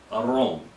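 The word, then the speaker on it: אהרן: talking here is Aaron Aron is how you say his name in Hebrew Aron it means like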